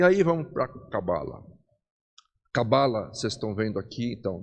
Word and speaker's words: Cabala: né primeiro em hebraico o correto de se falar é cabala cabala né então ela é uma palavra oxítona o acento na última sílaba tá Porém na maioria